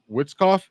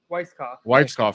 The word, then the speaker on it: Weitzkoff: do you pronounce it Witzkoff? Weitzkoff. Sorry.